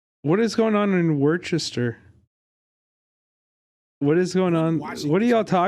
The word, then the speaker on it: Worcester: Wait, what is going on in Worcester?